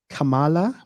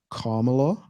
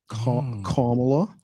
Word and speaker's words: Kamala: Some people call her Kamala, but it's actually pronounced Kamala. Kamala.